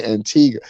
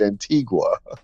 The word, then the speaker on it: Antigua: oh he trying to say Antiga said Antiga no it's Antigua guess you had to